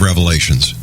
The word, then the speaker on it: Revelation: said The Book of Revelations that's how chrisan fundamentalist pronounce it actually there's no s on the Revelation but so I say